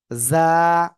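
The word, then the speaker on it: زا: এ অক্ষরটার নাম কি ঝ এরকম ভাবে উচ্চারণ ঝ বলা যাবে না যা যা ভিজে পোকা যেমন ডাকে একটু আওয়াজ পান না যা এভাবে আপনি আওয়াজ করে পড়বেন এবং এক আলিফ টেনে পড়তে হবে কয় আলিফ এক আলিফ জা সবাই একসাথে জোরে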